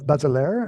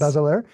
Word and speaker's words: Bazelaire: been arranged by, help me out with the pronunciation, Paul Bazelaire. Am I saying that Hmm. right? Very good. Yes. Bazelaire.